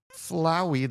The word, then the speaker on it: Flowey: Flowey the flower. I would say flowy, but that wouldn't rhyme with flower. It would rhyme with like flower. So, I think it has to be Flowey, right?